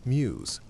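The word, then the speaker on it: Meux: The brewery's name MW is pronounced muse.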